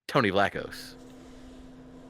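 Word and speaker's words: Tony Vlachos: ever well the first deserving two-time Survivor winner Tony Laos and Tony that's yes that is how you pronounce his name uh yeah Tony was the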